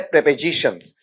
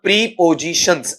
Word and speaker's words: prepositions: topic का नाम है प्रपजीिशंस इसका नाम प्रीपजीिशंस ऐसा नहीं होता है शुद्ध उच्चारण क्या होता है प्रपजीिशंस है जिसे अपन पूर्वसर्ग कहते